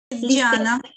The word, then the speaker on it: Gianna: Gianna. It's Gianna, well, you have it spelled Ghana. I know on your- it's okay, that. Gianna, So that's how you okay. spell it, but you say Gianna, yes.